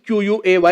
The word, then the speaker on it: quay: The word quay, Q-U-A-Y, is pronounced quay.